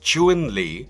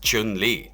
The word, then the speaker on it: Chun-Li: accurately romanized as Chun Li and pinyin and pronounced chewing Li despite how commonly westerners pronounce it as Chun Li Chun Li is a smart dedicated law enforce